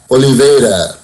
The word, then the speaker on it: Oliveira: Oliveira.